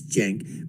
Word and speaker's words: Cenk: And I would just basically want to tell Cenk, and I know how the name is pronounced, it's Cenk, but I call him Cenk.